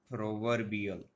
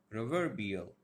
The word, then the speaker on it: proverbial: suffix will be stressed for example we have proverbial ro were bill proverbial so here the this one will be stressed similarly honorable honorable this